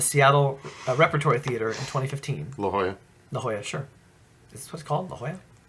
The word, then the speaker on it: La Jolla: La Jolla. La Jolla, sure. Is this what it's called? La Jolla? Yeah. That's how you pronounce Lajolla.